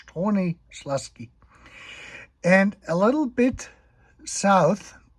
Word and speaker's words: Stronie Śląskie: And down here is Stronie Śląskie. I think that's how that is pronounced, Stronie Śląskie.